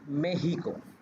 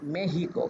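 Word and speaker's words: México: মেক্সিকো বানান করতে গেলে কিন্তু এম এর পরে যে ই আছে ইর উপরে কিন্তু ছোট্ট একটা এরকম দাগ আছে। তো এইটাকে ওরা বলে উচ্চারণের সময় তখন ওরা বলে যে মেহিক কিন্তু মেহিক।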